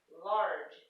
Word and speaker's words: large: Okay, the next rule, when the root word ends with a silent E, as in large, you can't hear the E, it's silent.